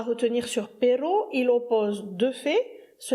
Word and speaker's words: pero: Et le premier d'entre eux, le plus simple, c'est Per. P E R O. Attention, prononce-le bien avec un seul R parce que si tu dis perro, à ce moment-là, c'est le chien.